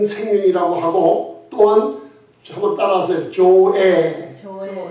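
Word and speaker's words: ζωή: 조에. 영어 발음이 어떤 분은 조이라고 하고 조에인데, 우리가 영어 발음대로 읽으면 조이라는 생명은 이 땅에서 없는 생명이에요.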